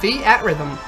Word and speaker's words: Theatrhythm: I was using the word pronounced Theatrhythm, and I don't know why. No, as far as I've ever heard it pronounced by anybody, it's Theatrhythm. Theatrhythm. Like you're trying to say theater.